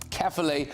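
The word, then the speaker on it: Caerphilly: which I'm now being told I need to pronounce it as carefully well there's a big bi-election taking place it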